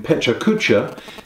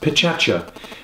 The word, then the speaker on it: Pecha Kucha: The other thing that Klein Dytham are known about throughout the world is what I have been calling Pecha Kucha, but which I understand is actually pronounced Pechacha, which is the 20 slides, 20 second format.